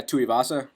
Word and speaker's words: Tuivasa: And from what I've seen from I don't know how to say his last name, Tuivasa, is that how you say it? Yeah, Tuivasa.